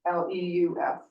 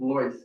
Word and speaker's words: Lewis: and add J Lewis, Leus. Lois, but yes, Lois? it's pronounced Lois. Oh, Yeah, like Lois. Freud, it's an EU pronunciation because he's family Okay. from Switzerland originally.